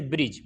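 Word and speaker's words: bridge: इसी तरीके से ब्रिज, ब्रिज के अंदर भी जी से पहले डी आया तो साइलेंट हो गया है।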